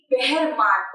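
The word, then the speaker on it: Behrman: Question मुझे क्या है, बहरमान। तो ये जो थोड़ा सा वर्ड है ना, ये थोड़ा सा किसी को लगेगा बहराम है, बहरमान है। Basically the right pronunciation will be बहरमान।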